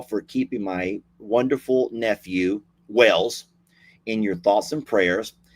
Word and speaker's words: Wells: Wells. I may be pronouncing it differently than you are because I'm from Texas and we have our own language over here. His name is Levi Wells, W-E-L-L-S.